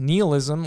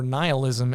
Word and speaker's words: nihilism: Neilism or nihilism as it's pronounced is this philosophy or worldview that nothing matters.